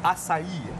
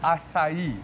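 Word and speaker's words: açaí: Cara untuk menyebutnya, it's acai. It's acai. Imagine the beer but without the H. Okay. Yes. So acai.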